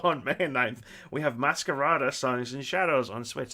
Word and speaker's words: Masquerada: And also on May 9th, we have Masquerada Songs and Shadows on Switch. That's how you pronounce that one as well.